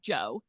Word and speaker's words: Djo: So the band name is Joe, but it's spelled DJO.